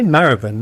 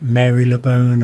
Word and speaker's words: Marylebone: I say Maravan. That's uh what my family pronounces one of London's most mystery mysteriously complicated pronunciations. Other people call it Mary Leone and other Mar Leone and stuff. But um you're going to have to stick with mine Maravan here cuz that's um